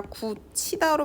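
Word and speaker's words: 굳히다: 왔죠 그러면 얘를요 9t다 이렇게 발음하는 것이 아니라 구치다로 발음합니다 선생님 이거는 왜 따로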